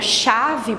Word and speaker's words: chave: que quando eu falo a palavra chave por exemplo ela com ch certo só que eu não pronuncio o h ele fica com o sonzinho de x então na contagem eu